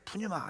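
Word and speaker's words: πνεῦμα: 그래 푸유 마라 그죠 발음을 풋자 좀 약하게 푸마 이렇게 마라 그랬는데이 푸마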